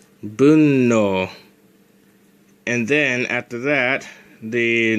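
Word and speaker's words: 分の: actually gets pronounced - it's pronounced as boom no and then after that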